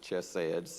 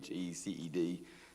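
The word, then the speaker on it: חסד: It looks like something like chesed, Checed. That's just kind of a best transliteration.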